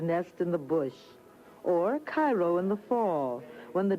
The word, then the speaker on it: Cairo: soil in and around cairo or cairo giving it the illinois pronunciation resembles that of its